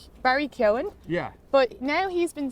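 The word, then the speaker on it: Keoghan: uh K like Barry Ken yeah but now he's been saying he's been saying kyogen but I don't know if he's just saying that for the Americans cuz usually the g is silent so now I'm all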